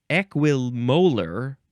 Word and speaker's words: equimolar: Next is equimolar or equimolar. Yeah, it's spelled like the molars in your mouth.